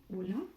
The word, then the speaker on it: hola: And H is silent. So if we had hola, you would pronounce hola, not hola, right?